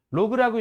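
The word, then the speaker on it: log: 이거를 로그라고 읽으셔야죠. 10g 이렇게 읽으시면 안 돼요. 로그입니다.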